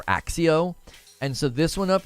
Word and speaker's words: Accio: want him to do I believe it might be pronounced Akio or or axio and so this one